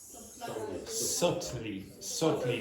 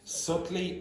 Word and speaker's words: subtly: Subtly. Don't pronounce the B. Subtly, it's the adverb of subtle.